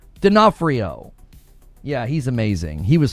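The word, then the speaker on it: D'Onofrio: but you don't No, you don't pronounce that one. You just you just jump to the N. Denafhrio.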